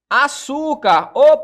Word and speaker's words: açúcar: Açúcar, açúcar, a sílaba tônica aqui é a antepenúltima, né? No caso das proparoxítonas. Aqui é a penúltima, ó.